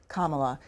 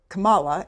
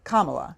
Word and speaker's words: Kamala: on a second Congressman the vice president pronounces her first name kamla you mispronounce it do you do that on purpose no ma'am I don't know how she pronounces it I've never this is the first time anybody's ever ever told me that how did I say it you said Kamala and it's Kamala Kamala okay well my last